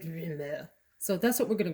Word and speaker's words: Rumeur: I thought it might be rumeur, but when I did the Google how to pronounce, it just said rumeur.